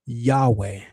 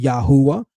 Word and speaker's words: Yahweh: The best configuration of this would be to say the ta shasu Yahweh, which is exactly how the scholarly consensus interprets it.